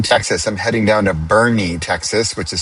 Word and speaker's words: Boerne: I'm heading down to Boerne, Texas, which is spelled b o e r n e which in Dutch would be boer boer-ne.